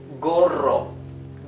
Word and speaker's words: gorro: Gorro.